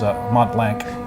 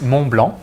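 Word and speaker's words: Montblanc: So it's Mont Blanc in one word, but No without C whatsoever. Exactly. Yeah. Wow. It's a silent.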